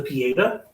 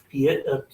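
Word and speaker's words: Pietà: a reference to the pieda pieta pieta yeah I think that's how you pronounce the pieta which is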